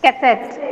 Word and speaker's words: cassette: Cassette. Cassette. Yeah, it is not cassette, it is cassette. Then this becomes very short.